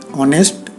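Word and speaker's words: honest: से टिप्स हुई है लेकिन वह बोलते वक्त एच साइलेंट हो गया है और आवाज वेल जैसी आती है इसलिए इन वर्ड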